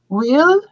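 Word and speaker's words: huile: no yeah spell it will like oil like h u i l l e so will which is oil yeah the Val what's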